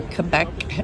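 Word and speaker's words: Québec: I am in Montreal, Quebec, or Quebec as the locals say.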